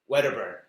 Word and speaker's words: Wedderburn: You know me, Weatherburn. Is that how you pronounce it?